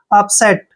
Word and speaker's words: upset: यू का उच्चारण ए करेंगे, और पी को पै पढ़ते हैं, एस को से पढ़ते हैं, ई को ए की मात्रा पढ़ेंगे, और टी को टे। अपसेट, अपसेट होता है परेशान, अपसेट परेशान।